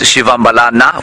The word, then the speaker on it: Shivambalana: Shivambalana, the correct pronunciation is Shivambalana with the A on the end of it. But if you hear a Shangaan person saying it, to the untrained ear it might sound like Shivambalan.